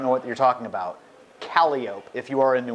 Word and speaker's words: Calliope: The joke there, Calliope, down here Calliope Street is pronounced Calliope.